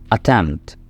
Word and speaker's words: attempt: Attempt. इसमें आपने P को वाज़े प्रोनाउंस नहीं करना, P को साइलेंट ही रखें.